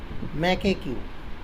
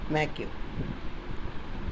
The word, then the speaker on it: macaque: इसको बहुत लोग पढ़ते हैं मैकेक्यू, इसको आप प्रोनाउंसिएशन करेंगे मैक्यू.